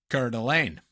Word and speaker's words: Coeur d'Alene: do with this, but actually what if I pronounced it uh Coeur d'Alene instead? Oh, then it's Montana in the vibe. Yeah, now it Oh, really close. Well done, really close. It's in Idaho. Coeur d'Alene.